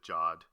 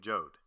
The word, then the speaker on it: Jod: He pronounces it Jod. All the podcasters out there and anybody else listening, quit pronouncing it Jode. He pronounces it Jod.